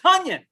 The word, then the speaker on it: Toney: And it's No, actually it's actually Tony.